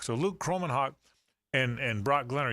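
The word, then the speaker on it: Kromenhoek: to make sure I say his name right croman Hawk croman Hawk so Luke croman Hawk and and Brock Glenn are young guys but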